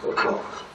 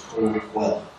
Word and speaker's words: Coquille: things happen here at Coquel. And that is the pronunciation, folks. It's Coquel. The river in the town is Coquille. Tribal name is Coquel.